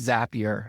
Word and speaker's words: Zapier: And so I saw the blog from Zapier, and it's Zapier, like happier.